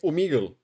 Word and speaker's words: Omegle: That's how you pronounce this website? Omegle.